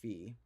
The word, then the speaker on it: phi: the funny thing is it is more technically pronounced fee but then Pi P